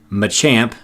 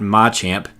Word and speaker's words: Machamp: day Arcanine not Arcanine Machamp not my champ hitmonlee and Hitmonchan not